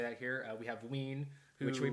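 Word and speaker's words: Wiene: We have Ween, which we pronounced correctly.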